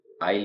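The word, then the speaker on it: isle: है आइल का मतलब भी होता है द्वीप आइल ये दो तीन तरह से स्पेलिंग है आइलैंड द्वीप आइल गलियारा और नेक्स्ट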